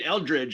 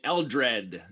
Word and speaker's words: Eldred: to say i was i didn't mean eldridge i mean eldred the uh larry copyright case i mispronounced it i was talking about